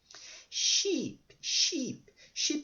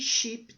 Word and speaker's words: sheep: Sheep é ovelha, tá? E sheep também é one sheep, two sheep, three sheep. Tá? Tem dois Es, pronuncia com som de I.